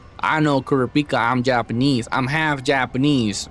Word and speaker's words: Kurapika: Okay, don't tell me it's Kurapika because it's not Kurapika. That shit's like some American trying to say Kurrapika. I know Kurrapika.